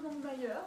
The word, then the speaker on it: Longmire: Alors, est-ce qu'on le prononce à la française ou Longmire ou Longmire? Je dirais plutôt Longmire.